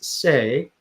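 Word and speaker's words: 四: So 4 is say, and what that means, it sounds like death.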